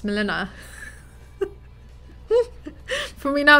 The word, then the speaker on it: Mileena: have said it wrong it's not melina but it's milena for me now it's